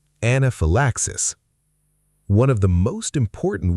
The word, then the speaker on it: anaphylaxis: Word 6, anaphylaxis. One of the most important words in emergency medicine and one of the most mispronounced. Anaphylaxis. The Y is soft. It sounds like phi, not phi. Anaphylaxis.